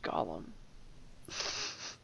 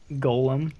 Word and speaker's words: Golem: Oh, it's not pronounced Gollum. What? How am I? Gollum is a character from Lord of the Rings. Golem?